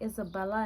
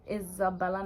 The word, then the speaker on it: Izabella: Because it's Isabella, not Isabella. Even in Spanish, it's not Isabella, it's Isabella. So that I purposely did the Z so people could pronounce the Z.